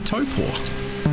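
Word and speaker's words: Taupō: Taupo? I always think about a bear, right? What does a bear have? At the end of their paw, they got a toe. They got a toe paw.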